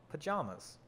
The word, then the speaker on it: pajamas: i've never read it how do you pronounce the second syllable of pajamas about the vowel in sham we're in the palin palms pajamas pajamas pajamas i